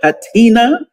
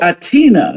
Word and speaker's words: H'atina: She goes by the name of Hatina. Did I pronounce it correctly? The H is silent. Oh, Atina.